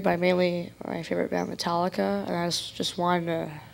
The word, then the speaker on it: Metallica: Speaking of Metallica, as I've heard people mispronounce it, that's kind of funny too. That's a little something for you, Metallica. Like, what? No, it's Metallica.